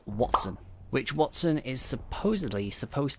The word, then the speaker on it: Wattson: type person I'm really the name Watson kind of goes with it because you have what's which is spelt w a TT so it kind of makes sense it goes the same way as what what is towards electricity so we might see it